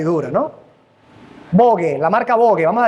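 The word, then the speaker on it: Vogue: alta y dura no bogue la marca bogue vamos a decirlo así como está escrito bogue se pronuncia bog bogue Sí ahorita vamos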